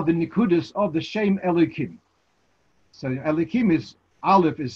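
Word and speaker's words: Elokim: to another name of Hashem, so then it's pronounced as Elikim.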